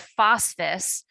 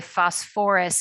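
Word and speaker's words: phosphorous: But again, like the sulfur, we bring back the extra syllable. So instead of phosphus, we say phosphorus acid.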